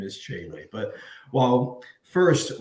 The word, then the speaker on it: Tcheilly: to mispronunciate his name it is the one and only chelly kelly welcome well thank you it's jaylee and we talked about